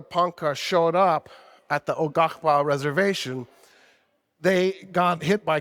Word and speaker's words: Quapaw: By the way, Ogahpa is spelled Quapaw. Ogahpa, just like it sounds.